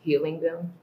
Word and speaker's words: Helium: But it's gonna be pronounced Healing Them.